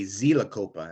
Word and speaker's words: Xylocopa: In Spanish, they say Zilacopa and not Xylocopa, which is probably correct.